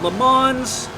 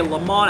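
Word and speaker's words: Le Mans: going in to uh lemon's or I should say lamon I don't know why I keep adding that s it is not pronounced in this going into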